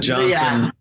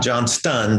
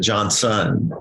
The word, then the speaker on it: Johnson: And Johnson, not Johnston, but Johnson. S-O-N. Yeah. Son.